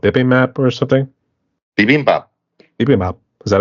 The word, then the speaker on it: bibimbap: Bibimbap. Bibimbap. Is that how you pronounce it?